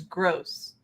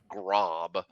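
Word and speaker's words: Groß: Yeah, The it's back of pronounced with his two jersey S's. says gross.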